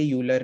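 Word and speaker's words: Euler: तो ई raise to उसने क्या बोला, ये यूलर ने, ई यू एल ई आर इसका स्पेलिंग है.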